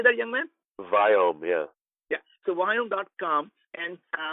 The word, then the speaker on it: Viome: As being an Indian, I cannot pronounce the word we. So when I say Viome, you really mean biome. Right. So it's V as in Victor, IOME.